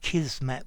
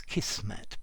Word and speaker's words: kismet: because kismet is inevitable notice i'm pronouncing it kismet with a zed although i have heard um some people pronounce it with an s kismet but i think i